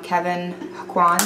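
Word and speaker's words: Kevyn Aucoin: then I'm going to top it off with Kevin Aquan.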